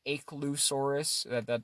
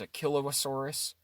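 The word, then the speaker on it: Achelousaurus: Some people say Achelosaurus. That's how it's spelt phonetically. Okay. The correct scientific pronunciation is Achelosaurus, which is just crazy.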